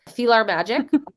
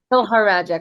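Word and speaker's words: PhilharMagic: I always say it wrong, but I know it's like Philharmonic, but it's Philhar Magic, but I always say Feel Our Magic.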